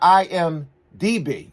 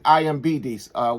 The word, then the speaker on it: IMDb: I've been saying IMBD. One of my subs pointed out. I know what it is. I just was saying it wrong. It's kind of a tongue twister to say fast the right way.